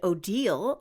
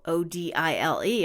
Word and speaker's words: Odile: other Swan is named Odile Oh di le although she's the evil